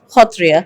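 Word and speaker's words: Sattriya: of the picture and made Satria the uh which in Assam is pronounced as khatria as the eighth classical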